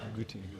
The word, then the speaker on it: Göttingen: pronounce this correctly, the University Medical Center at Göttingen. Is that right? Any German speakers? Have I got that right? Göttingen.